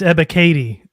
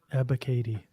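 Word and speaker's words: Ebiketie: these picks yeah and it's ebba katy that's how you pronounce it i've been wondering all draft season i pronounced that name abba katie abbott yeah advocate again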